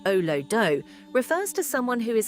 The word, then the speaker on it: Olodo: In Nigerian slang, Olodo, pronounced oh-loh-doh, refers to someone who is considered dull, unintelligent, or clueless, particularly in academics.